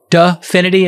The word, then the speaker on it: Dfinity: folks this one is dfinity de finity as i think how it's pronounced spelt d f i d-f-i-n-i-t-y and they've been hit